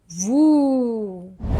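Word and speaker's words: vous: Why we pronounce it vu? Because o and u together they make a sound like oo. Okay. And s is a silent letter. So it is like vu.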